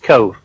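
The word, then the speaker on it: Cobh: with cove on it it's spelt c-o-b-h but it's pronounced cove in 1848 the great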